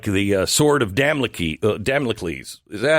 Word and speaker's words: Damocles: background like a like the Sword of damliki Damocles is that how you say his name Damocles you remember the guy who's holding the sword